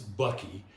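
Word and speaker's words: bakkie: They're called buckies. And if I told you how they were spelled, you'd really weird out. They're spelled B-A-A-K-I. And I don't know how they pronounce something like that as bucky.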